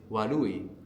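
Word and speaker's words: 悪い: And the word for bad in Japanese is wooi. Wooi. Wooi. So this sound in the middle is like between an R and an L.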